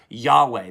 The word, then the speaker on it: Yahweh: name i am or sometimes you might have heard it said yahweh that's probably how they actually pronounced it so i am yahweh